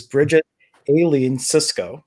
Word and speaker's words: Bridget Aileen Sicsko: If you've been following me since this morning, I have a very special guest, and I'm hoping to pronounce the name correctly. It is Bridget Aileen Sicsko.